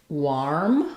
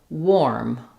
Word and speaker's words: warm: Or did you say warm, warm with an OR sound? It's actually an OR sound, even though the spelling is letters AR in this word. We say this as warm. It's just like the word wore plus an M.